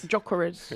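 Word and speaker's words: Gyökeres: It's Sesko and Gokares. Yeah, That's what it is. Jokeres. Jokeres. Jokeres.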